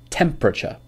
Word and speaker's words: temperature: closely chocolate temperature so actually in set two there is a silent syllable not chocolate or temperature it is chocolate and temperature so the silent syllable